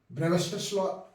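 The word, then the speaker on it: Brewster's law: ब्रूस्टर का नियम, ब्रेवस्टर्स लॉ English में इसका प्रोनाउंसिएशन होता है।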